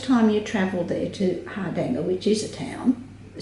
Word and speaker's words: Hardanger: the side of the Hardanger Fjord. And the correct way to say this is Hardanger. Hardanger. And we Australianised it to be Hardanger. Fair enough. Yes. And I'm going to keep saying Hardanger because That's all right.